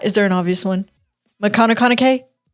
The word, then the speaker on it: McConaughey: is beyonce cat is there an obvious one mcconaughey mcconaughey like kanakana k that's yup that's how you pronounce it yeah and so you said that's